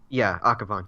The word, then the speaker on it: Akhavan: Now, this one is directed by, Joel's going to help me if I mispronounce it again, Desiree Akhavan? Akhavan, yes.